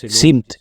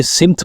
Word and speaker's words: سمت: سا تلفظ درست ہے۔ سین میم تے، اگر ہم سین پر زبر لگا کر پڑھیں گے تو یہ سمت پڑھا جائے گا، اور اگر سین پر زیر لگا کر پڑھیں گے تو یہ سمت پڑھا جائے گا۔ ہم